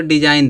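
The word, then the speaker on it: design: इस तरह से य डिजाइन दिया है जी के बाद एन आया है अब जी क्या हो जाएगा साइलेंट हो जाएगा डिजाइन माने क्या होता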